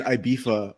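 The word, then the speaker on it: Ibiza: All the Brits in IBEEFA are doing pink cocaine.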